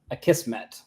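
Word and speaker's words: Akismet: you spell it but says on their site you say it a kissm a kissm so let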